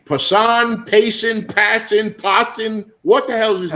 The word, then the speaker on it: Passan: Passan, Passin? What the hell is his last name? How you say it? Passan.